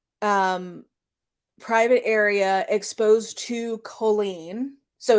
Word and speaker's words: Colleen: Colleen brings her up on stage or sorry Colleen her her name is pronounced Colleen which for whatever reason